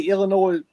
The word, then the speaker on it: Illinois: And listen, at the end of the day, Illinois beat us. Yeah. I call it Illinois. A lot of people say Illinois. However you want to pronounce it. The Illini. How about that? You don't say the S, but yeah.